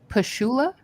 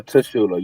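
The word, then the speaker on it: Tchula: Pushoula. Uh, Tashula. You spell it?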